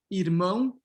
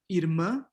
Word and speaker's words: irmã: Okay, so depending on the dialect, you can have irmão, irmã, irmão, irmã, or you can have irmão, irmã, or you can have irmão, irmã, right?